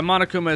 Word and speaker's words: Monokuma: But now, now I mainly know him for Monokuma. See, I'm the kind of Monokuma. I think Monokuma Monakuma. Yeah, monokuma is how it's said in the English uh versions.